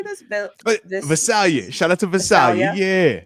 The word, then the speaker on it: Visalia: Visalia.